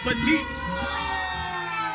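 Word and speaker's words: Pettitte: Not not petite girls on bar. Use me. Petite. Right. That's how you say his name.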